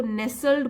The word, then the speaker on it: nestled: अब यहाँ पे एक ध्यान देने की बात है, ये जो है स्पेलिंग NESTLED, लेकिन जब इसको नेसल्ड बोलेंगे तो टी साइलेंट हो जाएगा।